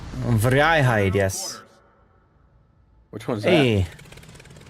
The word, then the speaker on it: Vrijheid: Hey, I learned how to pronounce a boat today. What's that? Vrijheid. Vrijheid, yes.